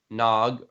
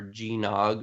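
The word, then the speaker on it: GNOG: Portal Knights, Nier Automata, and Nog, or G-Nog, or however you want to pronounce it. G-Nog? G, capital N, capital O, capital G.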